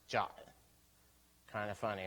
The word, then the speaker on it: JWT: was jwt's is pronounced jot kind of funny right weird because GWT was quit right I don't know why they got jot but it's actually in the specification for jwt's as like jot um we're also working